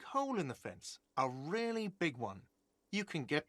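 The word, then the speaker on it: réal: You owe me 130 real. What's Royale? Oh, excuse me. You owe me 130 real. Real. He pronounces the R with a mock aristocratic accent.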